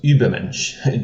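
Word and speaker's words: Übermensch: german in the word ubermensch just to mention a famous philosophical term in german is the u with an umlaut so now in english we don't have this so how can i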